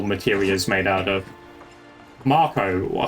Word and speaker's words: Mako: guys see um that they announced the it's pronounced Marco? Yeah, Marco March. They literally said it in the thing. Did I say Mako? If I said Mako, do you kill me? But it's it's definitely pronounced Marco.